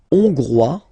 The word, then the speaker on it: hongrois: La Hongrie, hongrois, hongroise. Okay, hongrois, grois, hongroise. Okay, so here final S not pronounced for the masculine form, and then you pronounce it here for the feminine form.